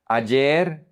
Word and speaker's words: ayer: Remember that this one is pronounced like the double L. So, ya or ya, which is already, but it has many different meanings. Ayer or ayer, which is yesterday.